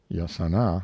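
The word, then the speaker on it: jacana: spot a still more interesting bird was the hakana as it is spelled in books but pronounced yasana by the Indians of Paraguay a quaint Rail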